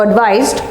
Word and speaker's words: advise: parts of speech, and the tip is nice to give advice, and the wise will advise well. The wise, so wise and advise, nice and advice. That's how you need to remember it.